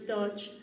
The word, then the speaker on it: Deutsch: We used to call him Rabbi Deutsch. I'm sure it's Dutch, but since we spell it Deutsch, and he was my Mishnah teacher.